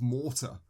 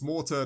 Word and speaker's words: Morta: And we're playing a 2019 game called Children of Mortar. Which I don't know what that is. Never, and it's mortar, not spelled like the actual grenade throwing thing, just mortar as in death, potentially.